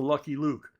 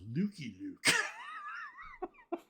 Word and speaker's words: Lucky Luke: When did you first get into Lucky Luke? Now, I was recently corrected by my good friend Jean-Francois Cavalier that it's pronounced Lukey Luke.